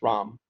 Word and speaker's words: Ram: is Ramesh people call me ROM and it's pronounced it's ROM I have 30 years